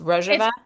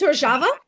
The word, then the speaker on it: Rojava: Is is it pronounced Roja? It's Rojava. Rojava.